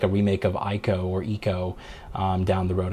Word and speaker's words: Ico: and hope to see like a remake of Ico or Eco down the road. I think it's called Eco, pronounced Eco.